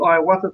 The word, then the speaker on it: ayahuasca: is, as you were saying, you've done the ayahuasca thing. How do you pronounce that?